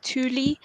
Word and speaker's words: Thule: I've always pronounced it Tuel. But I know you pronounce it different. But I did look it up, and it's actually a Swedish word pronounced Thule.